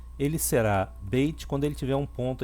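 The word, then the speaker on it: בית: O Beit ele pode ser pronunciado como B ou V. Ele será Beit quando ele tiver um ponto aqui no meio, né, chamado Dagesh.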